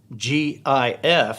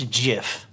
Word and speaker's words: GIF: and and and but nobody seems to know whether to call it jif or gif it's g-i-f and it's jif or gif but the guy who created it says it's jif so we're going with jeff now i want you